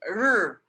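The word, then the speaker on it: 日: R, r. You keep it behind your teeth and you just go r as if you want to say the letter R, and that's how you pronounce it.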